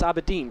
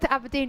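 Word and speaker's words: Aberdeen: good to note that I've managed to actually pronounce abedine properly yeah for those of you that just joined in Jo's pronounced abedine abin I've been calling it abedin for a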